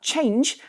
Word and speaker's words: Chanje: no exception that's because startup change spelled with a J rather than a G exited stealth mode with